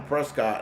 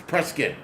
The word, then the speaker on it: Prescott: in Prescuit drinking and I said something Prescott and the lady head snapped around like the exorcist. It's like it's Prescuit.